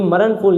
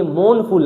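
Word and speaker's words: mournful: ये मरणफुल नहीं है, ये मौनफुल है। इसमें आर क्या रहता है? साइलेंट रहता है।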